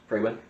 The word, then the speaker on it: Freywin: Freywin. Frey Win. Yeah, Freywin. Okay. Like Frey wins the game.